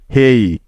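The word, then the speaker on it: hey: এ কারণেই এসব জায়গায় ওয়াই এর উচ্চারণ বা সাউন্ডটা অন্তস্থ অ এর মত হয়েছে বুঝতে পেরেছ আশা করি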